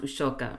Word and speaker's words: Ashoka: zero out of ten it's kind of like how ushoka is romanized as Ashoka but it's pronounced ushoka um maybe it's Kitty's